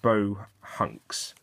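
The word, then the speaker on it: Bohunks: turn and um and bow hunks bow hunks is how it's actually um pronounced after the word which is derived from Bohemia or Bohemian and so if we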